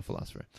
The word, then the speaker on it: Pholosopher: fph ER the philosopher but of course pronounced the philosopher so so you make